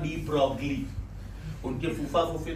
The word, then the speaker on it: de Broglie: De Broglie. This is not de Broglie.